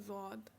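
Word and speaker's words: ضاد: या जेड है, वो एक्चुअली उसको कहते हैं ज़ौद। अब कुछ लोग कहेंगे द्वाद। एक्चुअली इसका प्रोनाउंसिएशन ना दा है ना ज़ा, क्योंकि अरबी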